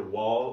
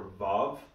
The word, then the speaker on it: waw: sound a hat and this is what's called a waw but depending on who your greek or hebrew professor is they'll pronounce either wall or bob just depends on who you have and head you guys